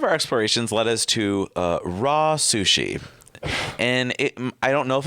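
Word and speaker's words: RA Sushi: And then part of our explorations led us to raw sushi.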